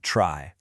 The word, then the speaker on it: trie: It's spelled like tree, but we pronounce it trie because, you know, computer scientists absolutely love to keep us on our toes.